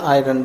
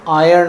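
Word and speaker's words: iron: स्त्री स्त्री that is आयरन जब जो हम प्रेस करते हैं दैट इज कॉल्ड स्त्री स्त्री उसको हम बोलते हैं आयन आयन उसका एक्चुअल प्रोनाउंस आयर्न होता है आयरन नहीं होता है आयन स्त्री करने का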